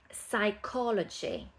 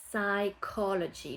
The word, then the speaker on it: psychology: Psychology. Psychology. Le P au début ne se prononce pas. Psychology.